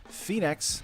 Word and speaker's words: Phenax: I'm really excited because this is Phenax. I think it's Phenax is how you would pronounce it.